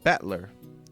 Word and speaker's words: Battler: far the problem is my given name that is made up of character for fight and person and pronounced battler well i mean fight person